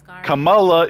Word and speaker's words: Kamala: my life neither of them called themselves CA Kamala is not the Indian version of Pamela it's not spelled with an E it's spelled with sorry I